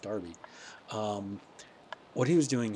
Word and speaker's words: Derby: Derby was doing here although maybe it's pronounced Darby um what he was